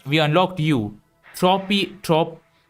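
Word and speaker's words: Tropeognathus: Tropiognatus? Tropiognathus. Tropiognatus. Okay. You're going to be a hard one to pronounce.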